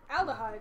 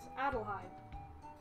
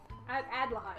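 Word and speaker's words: Adlehyde: As aldehyde, it's Adelheid. Adelheid.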